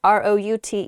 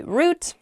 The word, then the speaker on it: route: next word is root r o u t e root is how I say it you might also hear